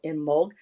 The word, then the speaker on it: Imbolc: And so I hope those who celebrate had a beautiful Imbolc celebration, or Imbolg. I know there's several different ways of pronouncing it.